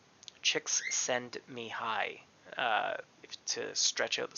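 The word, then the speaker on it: Csikszentmihalyi: a little easier phonetically the name is pronounced chicks send me hi chicks send me hi to stretch out the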